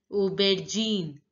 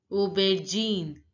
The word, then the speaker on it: aubergine: pronounce accurately again carrot eggplant is pronounced as Uber Gene Obed Gene now look a you a sound is pronounced as o o ER is pronounced as in in so it becomes Uber Gene aubergine Uber Gene now